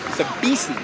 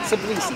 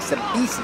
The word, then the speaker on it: Sabisi: It is Sabisi, not Sablisi, Sabisi. I keep pronouncing that wrong.